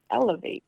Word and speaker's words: LAV8: And how do you say it? Elevate, LAV8.